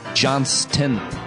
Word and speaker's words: Johnston: pleading with me to pronounce his name correctly by hitting the T.